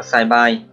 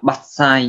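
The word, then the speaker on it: 伐採: Cái từ này không phải đọc là sai bài. Từ này là bắt sai nhá.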